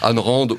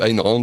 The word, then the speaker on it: Ayn Rand: Ayn Rand ou Ayn Rand, selon au choix du locuteur.